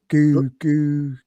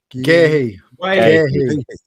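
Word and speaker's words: Guéhi: Is it Geary? Gahey. Yeah.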